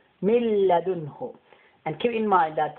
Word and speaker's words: مِنْ لَدُنْهُ: This noon today is silent because of the lamb with the shadda. وَيُؤْتِي مِنْ لَدُنْهُ. See, مِلْ. We will not say مِنْ. It will be مِنْ لَدُنْهُ. مِلَّدُنْهُ.